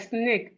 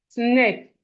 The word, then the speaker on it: snake: You have it more like snake. Sn a c snake. Sn a c snake. And the e here is silent.